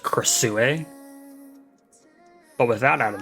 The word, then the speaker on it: Krasue: Earlier in the video, I know I probably called her Crossway or Crawa, but I know now that it's probably pronounced Casu.